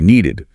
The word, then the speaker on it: needed: you had to add a whole extra syllable, an ed sound, so they had needed more potatoes. It would be needed.